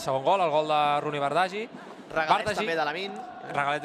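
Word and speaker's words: Roony Bardghji: No, mira, m'indica el meu bon amic Marc Andrés, gran professional, que la pronúncia és Rooney Bardghji.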